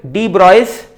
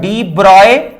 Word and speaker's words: de Broglie: So this is in accordance with de Broglie's hypothesis.